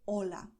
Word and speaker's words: hola: For instance, the word hola that we saw at the beginning of the video. Hola is what a native Spanish speaker would say. Hola, because you have the vowel O and the vowel A, and they sound just like you heard. Hola.